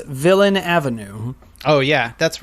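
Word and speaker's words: Villeneuve: because i love denis villano however you say his name i just want to say it's so frenchy and then i mispronounce it um i believe it's villain avenue oh yeah that's right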